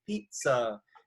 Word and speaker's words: pizza: I did, however, think of pizza, because usually when you say pizza, you don't just say pizza and it's equal, and you don't say pizza where the second syllable has more emphasis. You usually say pizza, and so it kind